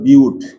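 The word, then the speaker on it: but: যদিও আমরা ইংরেজিতে বাট বলি। বাট হল কিন্তু ওটা হল ইংলিশে। কিন্তু এই জিনিসটা আসছে তোমার কোথা থেকে? গ্রিক থেকে। তাহলে উচ্চারণটা কি হবে? বিউট।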